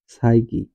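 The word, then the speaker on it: psyche: এরকম যদি থাকে তাহলে এই পির উচ্চারণ হবে না, পির উচ্চারণ হবে না, পি এর উচ্চারণ হবে, তাহলে এর উচ্চারণ হবে কি সাইকি, সাইকি শব্দের অর্থ আত্মা, সাইকো,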